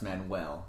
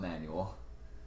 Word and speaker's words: Manuel: I was spelling manual on a form, and I spelt it Manuel, and was staring at it, trying to see if I had spelt it wrong. Until someone else pointed, no, that's Manuel, not manual.